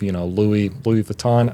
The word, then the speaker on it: Louis Vuitton: affluent and everything, and there's all sorts of, Louis Vuitton. I think I'm pronouncing that correctly.